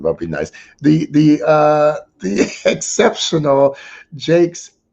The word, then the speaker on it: Jakes: That's how I have everybody understand how to say my name, is by saying Bishop T.D. Jakes. Just remember that. And everybody gets it after that point. Otherwise, it's Jacques, Jacques. I hear it all.